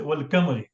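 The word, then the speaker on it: والقمر: But because it is Ba'ul Qasam, we say wal kamari.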